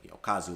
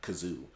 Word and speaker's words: Kazu: Her laughing at Kazu's name because she didn't realize it was like, Kazu, like the pronunciation in Japanese, and it's not Kazoo, like she was reading it.